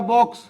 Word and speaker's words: baulk: इसे कहते हैं कौन सा बॉक्स, सिटिंग बॉक्स।